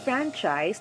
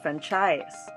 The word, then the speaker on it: franchise: emphasis for example franchise the stress mark is placed on the letter a meaning the ah sound should be stressed it's franchise not franchise interior the stress mark